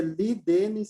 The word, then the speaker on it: Ledenis: Se lê Li Denis Santa Cruz, mas se escreve Lê Denis.